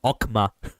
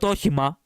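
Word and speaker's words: Okhema: the guy butchered it okma not okima okma barred in quation marks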